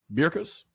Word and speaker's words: Berkus: Berkus, that's how you say it. Berkus.